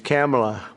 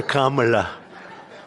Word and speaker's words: Kamala: this because, you know, your first name is very similar to a first name that we have, but fortunately it's pronounced different. It's Kamala. It's supposed to Kamala.